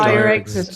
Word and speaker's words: Irexit: How do you say Irexit. Ire. Just think of Ire, John.